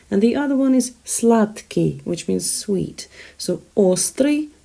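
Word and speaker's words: сладкий: first syllable and slutky you can see d in there but it's pronounced as ta simply because k impacts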